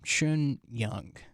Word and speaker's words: Xin Yang: This is your host, Abdullah Najjar, and in today's episode, I am joined by Xin Yang. Is that correct pronunciation?